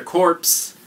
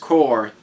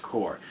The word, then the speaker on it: Corps: are calling it collector corpse it's actually pronounced core I'm sure most of you know but on a side note for especially people that aren't from America it's pronounced core just a side note